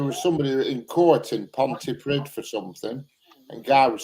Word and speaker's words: Pontypridd: It's not pronounced Pontypridd. It's Pontypridd.